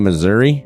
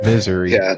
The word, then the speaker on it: Missouri: moved down to Marceline Missouri Missouri Missour Missour a small town those of us who know better misery misery when you're on that when you're on Hank's side of Missouri that's how you pronounce it anyway apparently was